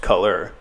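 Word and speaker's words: colour: with the our so even in the uk version of the spelling it's still just pronounced color as you would in america so only the spelling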